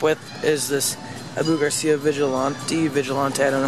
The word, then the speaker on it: Vigilante: I got a new combo, and I got the Abu Garcia Vigilante, that's how you say it.